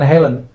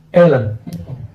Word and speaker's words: Hellen: Hellen itu bacanya bukan Helen. Ellen.